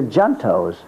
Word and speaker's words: junto: And the fathers came and they had a club, and they called them the Juntos. Junto is a Spanish word which is pronounced junto.